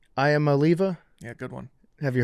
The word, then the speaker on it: Iamaleava: the bottom line is Nico, how do you pronounce the last name? I am Aliva.